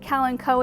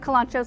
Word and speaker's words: kalanchoe: table we've got some kalanchoe you might pronounce it cal and coe in art region we pronounce it kolancho so that's what i'm going with there is one